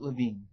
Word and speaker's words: Lewin: of Kurt Levine, and it's spelled Lewin, so it's really hard to figure out, but it's Levine. That's the way he pronounces it. And I think his mother pronounced it that way too.